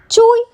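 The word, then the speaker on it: 吹: Chui, pronounced like chewy, with a forceful exhale, which is associated with the kidneys.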